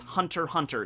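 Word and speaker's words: Hunter × Hunter: it doesn't matter because you do not pronounce the X it's just hunter hunter is the right is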